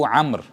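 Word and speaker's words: عمرو: मैं बहुत अरसे तक उसको अमरो पढ़ता रहा था सीरियसली, जब मुझे पता नहीं था। तो अब जब मैंने सीखना शुरू किया तो वाव साइलेंट होता है, तो वो अम्र कंसीडर किया जाता है।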